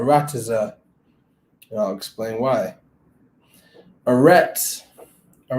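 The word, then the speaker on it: ארץ: and i'll explain why eretz all right the hebrew word they use within the code vowel pointing is arets play it for you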